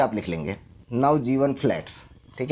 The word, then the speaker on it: नवजीवन: नवजीवन मतलब दो शब्द अलग अलग हैं। नवजीवन, तो नव के बाद ए नहीं आएगा, नहीं तो नवाजीवन हो जाएगा ये।